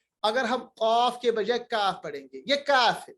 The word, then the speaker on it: کاف: کاف, یہ کاف ہے, کاف کاف. یہ قاف نہیں ہے, یہ ہے کاف.